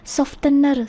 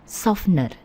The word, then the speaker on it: softener: Jadi di sini kita perhatikan t-nya itu silent, T-nya tidak terdengar ya. Kalau dalam bahasa Indonesia kadang-kadang kita bilang softener, softener.